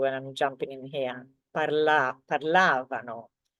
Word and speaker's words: parlavano: Parlavano. So can you see the stress is basically on the syllable before last or the syllable before the V.